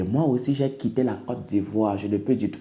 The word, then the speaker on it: Côte d'Ivoire: tio s'il te plaît papa prononce bien le nom de ton pays Côte d'Ivoire by the way je